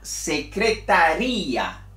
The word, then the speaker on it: secretaría: que se llama la secretaría Ah la secretaría cuando divido y presento dos sílabas entonces cambia de significado y también cambia el número de sílabas entonces aquí está 1